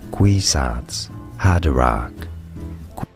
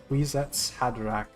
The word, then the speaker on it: Kwisatz Haderach: Kwisatz Haderach. Kwisatz Haderach. I did not expect. I don't know what just happened. Kwisatz Haderach is basically a male Reverend Mother.